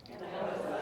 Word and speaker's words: Hinojosa: Hinojosa, everybody practice really quick. How do you say my name? Hinojosa.